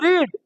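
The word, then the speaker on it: read: पढ़ेंगे तो they will रीड लेकिन वे लोग पढ़ चुक तो दे विल हैव रे स्पेलिंग वही रहेगा उच्चारण बदल जाएगा रेड हो जाएगा समझ में आ गई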